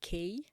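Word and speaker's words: Kheyi: Um where where it all started, uh it's a it's a small village uh called K. Um it's um K you it's pronounced like the letter K.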